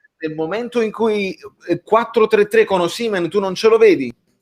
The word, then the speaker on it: Osimhen: Ora, Osimhen, lo chiamo come si chiama, va bene, così non ti incazzi. Osimhen, come accento.